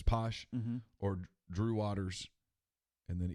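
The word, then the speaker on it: Pache: It's Posh, or Drew Waters, and then either Bryce Wilson or Kyle Wright.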